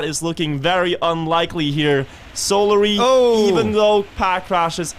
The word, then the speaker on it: Solary: Did you just say Solary? Solary. Solary. I like that pronunciation.